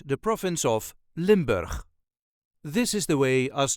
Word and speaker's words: Limburg: accent the province of limber this is the way us duchies say limur limber there is a very slight emphasis on the first syllable limber Lim B all the